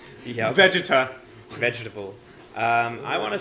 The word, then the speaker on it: Vegeta: forget what the word itself is it's actually pronounced vegeta yeah vegeta vegetable um i want to say vegeta tales